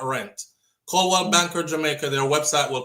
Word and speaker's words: Coldwell: So, how do you pronounce that? Is it CH or just CO? C O L D. C Oh, Coldwell.